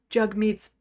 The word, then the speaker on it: Jagmeet: name it's literally in jug meets bio pronounce jug rhymes with hug meat Pi knows how to